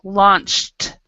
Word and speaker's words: launched: So if there's a K at the end, it's always a T sound. So if it's a CH at the end, it's always a T sound. Launched.